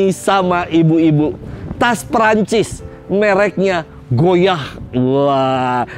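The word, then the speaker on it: Goyard: ibu-ibu tas Prancis mereknya goyah Wah cara bacanya goyah tulisannya goyart goyart ya Tapi kan kedengarannya goyah seperti kata goyah Emang Terkadang ketika kita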